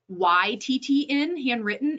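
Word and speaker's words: Handwrytten: There are services like handwritten. The written is spelled WRYTTN, handwritten.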